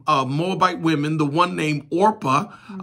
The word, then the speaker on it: Orpah: So they married Moabite women, the one named Orpah. Mm-hmm. A lot of preachers read that. O-R-P-A-H, and they say Oprah.